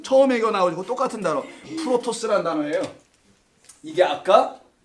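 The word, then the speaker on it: πρῶτος: 프로토스란 단어예요. 이게 아까 첫 번째 거과 나중 거. 시작과 끝. 이런 단어 쓸 때 프로토스예요. 자, 요 단어 쓰는 건데 프로토스. 이게 프로토스. 비슷하죠? first. 발음이.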